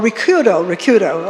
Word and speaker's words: Ricciuto: not saying it right, is it Ricciuto? Ricciuto? Oh, Ricciuto, okay. I was trying to do it in the Italian pronunciation.